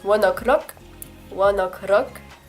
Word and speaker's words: ONE OK ROCK: Ah oui, fun fact d'ailleurs, leur nom donc c'est One Ok Rock, mais avec l'accent japonais dont il faut parler au début. Ça se prononce One O'Clock, One Ok Rock, One O'Clock, One O'Clock.